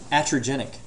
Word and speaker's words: iatrogenic: Iatrogenic. I-A-T-R-O-G-E-N-I-C. It's I-A-T-R-O. Iatrogenic. It's pronounced iatrogenic.